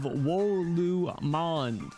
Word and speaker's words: Wolumonde: that's it that's right I repeat Twilight of wolu M that is how it's said if you've ever heard